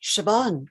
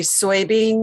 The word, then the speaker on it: Siobhan: pronounced what did i pronounce right siobhan you pronounced siobhan correctly you didn't say soybean or cobahan or sibon yeah it's to be fair really impressive really